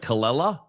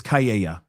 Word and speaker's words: Kayea: I mispronounced it when I did my short. I was like Kalela, but it's Kayea.